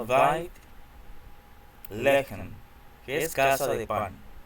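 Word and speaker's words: בית לחם: En el nombre de Belén, la casa de Belén, tenemos, en hebreo se pronuncia Beit Lehem, que es casa de pan, Belén. En hebreo es Beit Lehem, para tener una adecuada pronunciación de la palabra Beit, casa.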